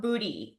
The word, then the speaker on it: Buti: today we're talking about booty and if you guys haven't heard of Booty like me as of a couple weeks ago it's spelled buti and you're in for